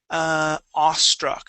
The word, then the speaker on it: awestruck: And we'll start off with awestruck. So here, instead of saying awestruck, we only pronounce an aw sound.